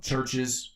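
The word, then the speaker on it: Chvrches: Uh the Hicks uh Churches with a V. It's spelled with a V. C H V R C Hs.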